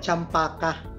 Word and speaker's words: cempedak: Pero yung majority ng trees dito sa Bukidnon, sempidak talaga. Sa Malaysia, ang pronunciation na nito is parang champaka. Yan yung champaka.